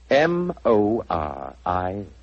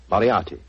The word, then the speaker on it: Moriarty: I'm afraid I'll have to begin calling it the way it looks. M-O-R-I-A-R-T-Y. Moriarty.